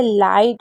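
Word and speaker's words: light: Rule number 15 है कि कभी भी जीएच साथ में होगा तो उसे नहीं पढ़ेंगे। यह हमेशा साइलेंट रहता है। जैसे लाइट हो गया, नाइट हो गया।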